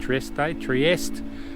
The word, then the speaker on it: Trieste: a limestone plateau near Trieste, I think is how you say it, Trieste, on the Slovenian and